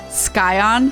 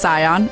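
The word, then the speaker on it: Scion: watching the YouTube VOD Bender does like to mispronounce things what mispronounce skion it's cion and cryle is not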